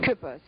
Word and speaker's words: Kueppers: Kueppers. It was in German. It's spelled K-U with an umlaut, P-P-E-R-S, but we spelled it K-U-E-P-P-E-R-S.